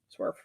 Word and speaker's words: SWERF: SWERF is an acronym for sex worker exclusionary radical feminist, pronounced SWERF.